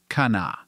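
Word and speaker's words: Kanawha: moved into the area the first H sound in the name was dropped now it is just pronounced Kana Charleston enjoyed steady growth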